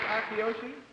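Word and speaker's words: Akiyoshi: How do you pronounce it? Akioshi? It is Akioshi?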